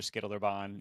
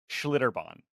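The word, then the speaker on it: Schlitterbahn: right all right so how do you say it normally schlitter Bond schlitter Bond so just take most of the letters out it's mainly an sh sound there's a lot of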